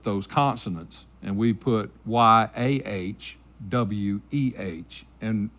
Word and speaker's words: Yahweh: some vowels with those consonants and we put why aah weh and it's pronounced Yahweh and so hallelujah is a combination of halal